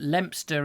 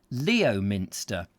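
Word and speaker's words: Leominster: and you'll see that lempster is actually if you were to try and pronounce it phonetically leo minster and i'm sure people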